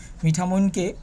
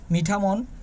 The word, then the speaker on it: মিঠামইন: এটি একটি প্রাচীন জনপদ মিঠামোইনকে অন্যান্য নামে ডাকা হলেও তার মধ্যে হলো মিঠামন মিঠামুইন বা মিঠামন বলে উচ্চারণ করে থাকে নামের উৎস নিয়ে যে